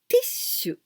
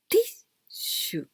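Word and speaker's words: ティッシュ: The first one, te. And the second one, e, small e. Then we pronounce t, not te, t. And after, there are two, but small two. So this means this is the jump sound.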